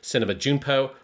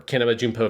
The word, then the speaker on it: Kinema Junpo: the Japanese film magazine Cinema Junpo, or Kinema Junpo if you want to pronounce it the Japanese way.